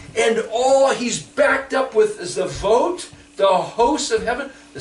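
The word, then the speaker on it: צבאות: You see, that word Sabaoth is the word in Hebrew, Zadi Bet Aleph Vav Tav, Zavot. It's mispronounced and put in English letters, so we miss it, but Zadi Bet is the word for turtle.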